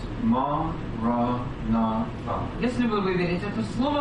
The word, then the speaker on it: Maranatha: If you choose this word, say it as 4 syllables. Ma, ra, na, fa.